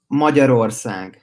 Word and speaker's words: Magyarország: Magyarország.